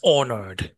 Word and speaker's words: honored: vô nha I was honored từ đặc biệt ha chữ h này có viết nhưng không Không phát âm đó là t